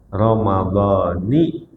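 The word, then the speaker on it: رَمَضَانِ: Nah, jadi bacanya ramadani hadiisanati lillahi taala dituntun.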